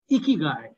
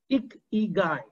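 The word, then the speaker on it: 生きがい: Well, it is pronounced as Ikigai. Ikigai.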